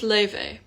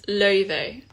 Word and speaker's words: Laufey: thank you um oh my name is pronounced leyvay kind of like this it's leyvey but this is the closest the pronunciation is in english let me pin it